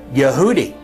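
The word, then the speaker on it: יהודי: And one answer is the fact that the word transliterated in Hebrew for Jew in English is pronounced Yehudi.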